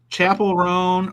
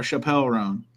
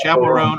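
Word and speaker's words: Chappell Roan: Is it Chapel Roan or Chappelle Roan? You said it right the first time. Thank you. Chapel Roan on your wall of banger albums behind you, Mr.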